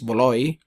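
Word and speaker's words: Bualoi: Bualoy ang pron ang ang nakalagay pero ang pronunciation is buuloy.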